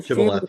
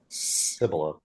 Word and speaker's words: Shibboleth: The Ephraimites physically is unable to produce the sh sound, as would instead say Sibboleth.